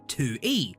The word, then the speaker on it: Tui: Tui, it's pronounced 2E, is a self-proclaimed trash rodent.